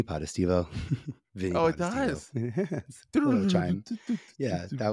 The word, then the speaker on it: Potestivo: level two Super Mario I like to say it goes podestivo podestivo oh it does yes